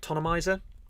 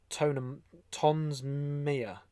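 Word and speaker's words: Toensmeier: So this is one of Dave, full credit to Dave Jack and Eric Tonemizer. I believe it's Tonemizer, how you pronounce it. Tonsmere.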